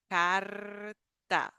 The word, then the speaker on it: carta: The tip of the tongue is at the top of the mouth, and we vibrate that.